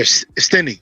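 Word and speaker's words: Stinnie: Aaron Aaron Stein Aaron stinny how you how you say it Aaron stinny stinny yeah stinny you got it bro bro stinny Aaron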